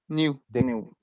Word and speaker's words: knew: answer yesterday yes i knew the answer yesterday don't forget in english you'd never pronounce k-n new yes the n is eliminates the k sound so you pronounce only n exactly thank you i